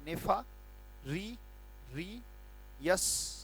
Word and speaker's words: nefarious: मैंने एक बात कही और बार बार कहता हूं कि जैसे नेफा, तो NEFA नेफा, री यस नेफारियस।